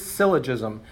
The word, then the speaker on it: syllogism: They kind of don't know how to pronounce it. So the word is syllogism.